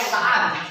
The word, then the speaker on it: Sa'ad: Bacanya teh Sa'ad.